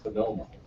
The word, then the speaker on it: Panomo: And now we turn to a gentleman who, if his family name were to be pronounced phonetically in the same way as Patahi's is, it would be Uonomo or Uonomo. Either way, I've heard most of them, so. But in fact, it's Mike Panomo, who is the executive